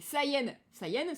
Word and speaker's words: Saiyan: Parce que effectivement, saying, dire, et Saiyan se prononce pratiquement pareil.